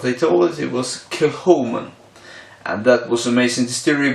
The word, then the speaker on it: Kilchoman: a king Kim one I thought was proud pronounced kilowatt but they told us it was killed human and that was amazing theory because this is